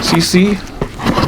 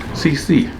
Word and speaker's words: Seesii: have a mini chainsaw CC I believe is pronounced think you see Sal right you're going to see a saw I'll unbox it show